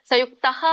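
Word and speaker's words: ಸಂಯುಕ್ತಃ: ವಿಸರ್ಗ ಅಂತ ಕರೀತಾರೆ ಅದಕ್ಕೆ ಸಯುಕ್ತಹ ವಿಸರ್ಗದ ಒಂದು ಉಚ್ಚಾರಣೆ ಹೇಗಿರುತ್ತೆ ಹ ಆಗಿರುತ್ತೆ ಅಲ್ವಾ ಹಕಾರ ಬರುತ್ತೆ ಅಲ್ಲಿ ಸಂಯುಕ್ತಹ ಸೋ ಹಾಗಾಗಿ ಇಲ್ಲಿ ಸಂಯುಕ್ತಹ ಅಂತ ಎಂಡ್ಗೆ ಹೇಳುವ ಹಾಗೆ ಹೇಳಂಗಿಲ್ಲ ಮಧ್ಯದಲ್ಲಿ ಇದ್ದಾಗ ಸ್ವಲ್ಪ ಮಾತ್ರ ಹೇಳಬೇಕು ಸಂಯುಕ್ತಹ ಅಂತ ಹೇಳಬೇಕು ಹ ಸಂಯುಕ್ತ ನೆಕ್ಸ್ಟ್ ಹೇಳಿ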